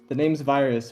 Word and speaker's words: VIRXZ: Anyways, you can find him at the name's Virus, but it's spelled VIRXZ.